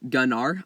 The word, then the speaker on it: Gunnar: the lore and then we'll talk about it pronounced gun oh I love gun are I guess the oldest Dragonlords still remember the